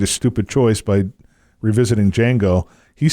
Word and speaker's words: Django: it the guy asks d j a n g o d Jango the D is silent and then the other